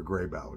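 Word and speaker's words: Grabow: that or a Dr grybow and uh that's spelled g r a b o w Dr grey BAU g r a b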